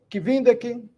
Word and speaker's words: kvindek: Temos que nos lembrar, meus amigos e amigas, que todas as palavras são paroxítonos, né? A sílaba mais forte é a penúltima. Por isso, Kvindek, Sesdek, Septek, Okdek, Naudek.